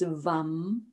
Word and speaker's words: vam: The syllable which corresponds with the svadhisthana around the back of the pelvis, the lower belly, is vam.